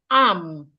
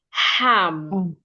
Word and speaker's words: am: An example of such word is am. You pronounced ham. You pronounced H-A-M, ham. That is wrong.